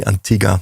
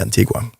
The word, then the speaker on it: Antigua: to Antiga um yeah the locals say Antiga not Antigua but it's it's named from the Spanish conquistadores so it's of course correct would be yeah would be Antigua MH um we Lov